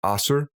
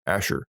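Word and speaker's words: Asshur: Isaiah actually he's called Asher or it can be pronounced asar or a sewer depending on where you come from but in the West we generally say Asher this moniker is used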